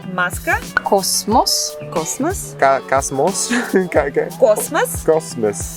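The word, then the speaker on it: космос: Cosmos. Cosmos, because if the O is under stress, then it's pronounced like O. If it's not stressed, then it's almost like an A.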